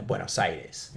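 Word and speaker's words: Buenos Aires: the capital of Argentina buenos sides he's like there four words uh the first word is way w a y mhm the next word is no n o the third word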